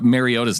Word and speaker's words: Mariota: and then you go and you say uh mariota's name wrong because it's Mariota so I I don't